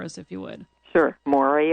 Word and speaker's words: Moreah: if you would sure maury is m-o-r-e-a-h rhymes with gloria is v-e-s-t-a-n and